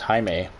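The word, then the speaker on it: Jaime: take on haime Garcia I think it's Hae or is it Jamie it's actually a guy I work with who his name is spelled like that and he is Hispanic and sometimes my boss would write his name as Jamie even though his name is Hae and I asked him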